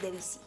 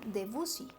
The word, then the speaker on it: Debussy: Uno de los compositores más representativos de este estilo es Debussy. Muchos lo pronuncian Debussy, pero es una manera incorrecta de pronunciar este nombre.